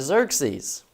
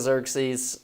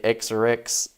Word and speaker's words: Xerxes: used to joke Artis Xerxes uh sometimes a hazah hurus is just called Xerxes and guys would get in the book and they'd start reading it they'd say x orx that's look the pronunciations these are